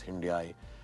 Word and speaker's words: Hyundai: A lot of talk about how it should be pronounced Hyundai. They told me like Sunday. We obviously pronounced it as Hyundai.